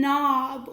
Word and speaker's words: knob: n in this case our K is silent we don't hear it at all sometimes we call it